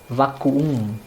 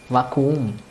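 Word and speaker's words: Vakuum: When two vowels, the same vowel comes twice, it's called it's one of the diphthongs, and you have to pronounce, you have to elongate it. In this case, it almost becomes like a break in between.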